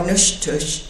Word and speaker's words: Natchitoches: But this is a Natchitoches bowl, or Nushtush is the way the Caddo pronounce it.